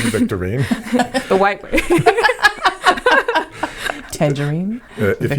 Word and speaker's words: Victorine: you say your last name again Victorian there victorine victorine the white way Tangerine if you've enjoyed today's